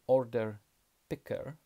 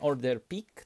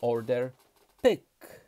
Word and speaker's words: order picker: Ale to nie jest pik, bo pik to jest szczyt. Albo szczytować. To jest pik. Tutaj mamy pyk. Pyk. Pisze się przez i, ale czyta się y. Pyk. Tak? Czyli Polacy pracujący w magazynie mówią, że pikują, czyli szczytują. Ma być pyk. Nie pik, nie order pik, tylko order pyk.